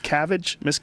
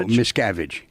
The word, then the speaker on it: Miscavige: What's the correct pronunciation? It's Miscavige? No, Miscavige.